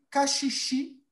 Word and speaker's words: caxixi: não, também usado na prática da capoeira, e caxixi, dobrão, baqueta, partes do uso do berimbau. Ok? Como está a prática da pronúncia de vocês?